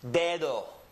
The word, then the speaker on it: dedo: Well, in Spanish, for example, this word would be pronounced dedo. Dedo. Read it with me. Dedo. Remember that this letter is an E. So the first syllable is de, and the second syllable is do.